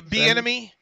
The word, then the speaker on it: Bieniemy: Is it Eric Bieniemy? Yeah, Bieniemy. Bieniemy's how you say it?